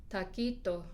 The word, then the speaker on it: taquito: Porque los que hablan español, los que hablan inglés, que no son nativo hablantes, pronuncian la T como si fuera una T del inglés, que tiene más aspiración, más como H al final, en vez de taquito, ¿no?